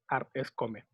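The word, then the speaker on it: 米: Ya cuando hablamos del grano blanco, es come. Tiene dos pronunciaciones, Bei y Mai.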